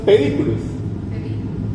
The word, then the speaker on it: pedículos: Entonces le va a decir los pedículos. Los pedículos. Pedículos. Acento en la I.